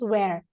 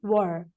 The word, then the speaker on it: were: where we never we are not supposed to pronounce where it is were it is were okay that is the you